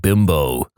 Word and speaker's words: Bimbo: Except it never really took off in America because we don't pronounce Bimbo like the Mexican manufacturer does. They pronounce it Bimbo, not Bimbo.